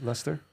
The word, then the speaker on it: Leicester: I've got that very dark-skinned black woman who's like an elven is it Leicester? princess. You say Leicester? Yeah, she's in Leicester in the UK. So Yeah. Even though it's spelled like She looks like the